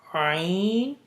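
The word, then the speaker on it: ع: Second, middle of the throat, Ain, Ha.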